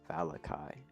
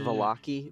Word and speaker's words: Vallaki: Everyone, welcome to Valai, which I have learned is actually pronounced Vaki, but I don't think that's as fun.